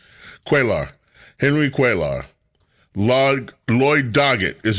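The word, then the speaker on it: Cuellar: Vicente Gonzalez, Henry um I I use I just I always mispronounce his name. I call him cellular but that's not his name. Quaar Henry Quaar Lloyd Dogget is another one and Greg Cesar.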